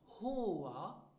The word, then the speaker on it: Haar: Now listen and repeat after me for the correct pronunciation. Haar.